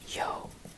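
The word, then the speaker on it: jo: When you call someone, that yo is the same as yo. Yo. But you see how when I say it, it sounds very dry and it stops. It's like a yo. When you say yo, you add that U that I talked about here in po. When you say po, you yo. So you stop it. Yo.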